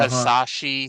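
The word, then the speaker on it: Hisashi: Hasashi Shinma. Am I pronouncing that first name Yep.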